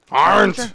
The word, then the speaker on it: Arendt: Yeah, it's Aren't.